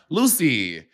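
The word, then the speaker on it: Loosey: I thought her name was spelled Lucy, but it's spelled Loose, like a loose booty.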